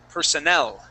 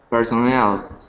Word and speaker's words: personnel: Uh now this word is actually pronounced like this. We say personnel. Personnel.